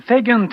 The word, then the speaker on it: second: And here, second, the C is like a G, second.